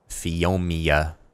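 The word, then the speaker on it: Phiomia: should go make a fonia saddle and ride maon over here fiomia there's no n in it nomia no I won't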